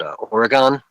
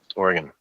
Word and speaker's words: Oregon: about um was it I was calling it Oregon. Kept calling it Oregon and I just had to be like dude Oregon.